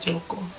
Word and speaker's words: Jaka: Joko. Enggak bacanya Jaka. Oh, namanya Joko. Enggak sih. Dibaca aja Joko. Iya. Gitu. Joko kalau dalam Magaja bacanya Joko.